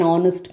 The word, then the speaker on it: honest: so an is used the h at the beginning of these words is silent next let us go